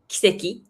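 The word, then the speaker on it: 奇跡: Kiseki, Seiki.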